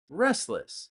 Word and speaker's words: restless: Remember, we don't pronounce the T in restless. Restless.